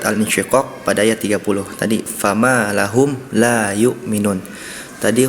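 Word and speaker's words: لهم: Tadi fama lahum la yu'minun. Tadi huruf mim sukunnya pelafalannya kurang terdengar jelas, sehingga terdengar seperti fama lahu la yu'minun.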